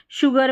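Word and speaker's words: sugar: जो श्योर spelling है ऐसे ही शुगर में है। शुगर में भी एस को वहाँ पर श पढ़ते हैं और श्योर में भी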